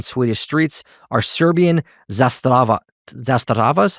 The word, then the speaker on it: Zastava: And a third of all illegal handguns on Swedish streets are Serbian zasta zastavas.